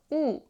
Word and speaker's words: 유: + 요요 요요요 and u is e + uu uu유u u if you can control your lip